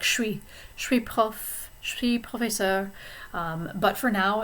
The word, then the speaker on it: professeur: Notice now when I say professeur that the S is silent because professeur begins with a consonant and not a vowel.